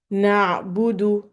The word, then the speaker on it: na'budu: to pronounce it correctly, you will notice that other people are making this like a O sound. Na'budu, making sure to make your dhamma very clear and clean, you have to make your mouth into a tight O sound.